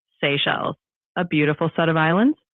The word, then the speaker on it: Seychelles: And it's spelled S E Y C H E L L E S. How do you pronounce that? Uh that would be pronounced Seychelles.